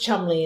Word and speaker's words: Cholmondeley: But pronounced Chumley in that typical English way.